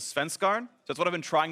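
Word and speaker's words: Svenskeren: I asked him how to pronounce his name in Danish yesterday, and the best I could understand it was Svenskarn.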